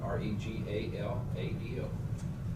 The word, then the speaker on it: Regalado: said you can roll your R's, and that's more appropriate.